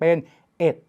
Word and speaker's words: เอ็ด: จะ คุ้น เคย ดี ถ้า เลข 1 ปรากฏ ตัว เดียว เป็น หลัก หน่วย เรา จะ ออก เสียง ว่า 1 แต่ เมื่อ ไหร่ มัน ไป ปรากฏ ใน หลัก สิบ หลัก ร้อย หรือ หลัก อื่น ๆ นะ ครับ เลข 1 ต้อง เปลี่ยน เป็น เอ็ด เช่น 11 21 ร้อยเอ็ด